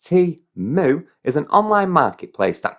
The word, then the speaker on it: Temu: this what is teamwork Timo pronounced T moo is an online Marketplace